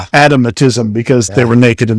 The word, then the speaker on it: adamitism: And it's spelled a d a m i t i s m.